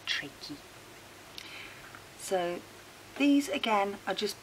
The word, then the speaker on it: trachea: Now trachea is spelt like trachea, with an E on the end, so which is why we pronounce it trachea.